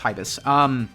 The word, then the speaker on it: Hibis: Am I pronouncing that correctly? Hibis? Hibis. It's Hibis.